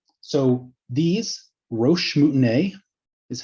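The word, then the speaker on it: roche moutonnée: everyday lives today same idea right so these roche mutinae is how that's pronounced are names of these small hills you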